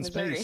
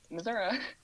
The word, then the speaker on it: Missouri: Which plot of the wide open Missouri.